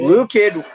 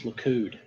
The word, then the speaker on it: Likud: Blue Kid was based on Mussolini's Italy. I told you last time it's Likud.